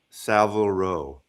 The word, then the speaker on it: Savile Row: And just for anyone who wants to know it's pronounced Sav Savile Row.